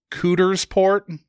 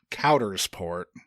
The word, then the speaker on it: Coudersport: So it does pain me to say that Ricky Lindholm's Pennsylvania birthplace is not, in fact, pronounced Cootersport, as we'd hoped. Per local news reporter's pronunciation, it is instead pronounced Coudersport.